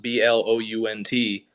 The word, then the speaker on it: Blount: Um, it's in Blunt County, which is spelled Blount, Blu N T, but it's pronounced Blunt.